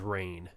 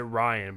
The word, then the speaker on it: Rainn: I've heard people pronounce it Ryan, but I think it's Rain.